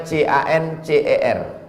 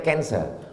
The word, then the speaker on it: cancer: menggumpal mengenggumpal menjadi kanser tulisannya c a n c e r orang barat membacanya Cancer orang kita susah menyebut Cancer kenapa nih kanker maka menggumpal dia dalam